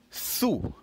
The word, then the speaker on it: sous: But remember, this sous here is spelled S-O-U-S, which means under. Je vais from the S-U-R, which is sur.